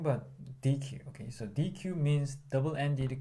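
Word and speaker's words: deque: Okay, so in this slide we have a variation of Q, which is a DQ or DQ. So basically the pronunciation is the same. So it's a little confusing, but DQ.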